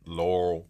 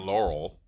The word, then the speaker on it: Laurel: So anyway, if you're from the area, you know it's not Laurel. That's what I say. Laurel. Laurel. There's 2 syllables to Laurel.